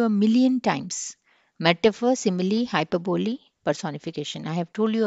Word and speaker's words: hyperbole: Simile, metaphor, hyperbole, personification. Hyperbole అనకూడదు, hyperbole. Hyperbole. Okay, this is how you have to pronounce it. 4 syllables ఉన్నాయి.